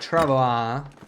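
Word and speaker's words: travois: Yeah, it should be like travoa, but I just I don't know. It it's it takes too long to pronounce and it's just it feels very foreign to me. Like I'm not used probably because I don't speak French at all, right? But like yeah, I just say Travoy just it's faster to me.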